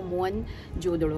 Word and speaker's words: मोहनजोदड़ो: उन्होंने जाना कि असल जो प्रोनंसिएशन है वो मोहन जोदड़ो है, मुआ मने मृत और दड़ा मने टीला, तो मोहन जोदड़ो हुआ मुर्दों का टीला।